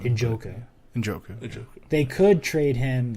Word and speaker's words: Njoku: I can't trade pronounce his him name. Njoku.